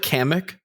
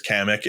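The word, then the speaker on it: Kamek: um I also like kamik um uh I think that's how you say his name I'm always bad at how to pronounce it I'm pretty sure it's kamik and he was almost my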